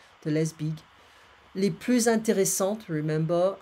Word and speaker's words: intéressantes: Les plus intéressantes, remember, if we pronounce the TE, it's a feminine form. We don't pronounce the S.